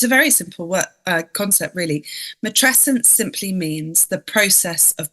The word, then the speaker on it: matrescence: And it's a word, frankly, that I had to figure out how to pronounce. It's not in the zeitgeist yet. Matrescence, which is the name of your book.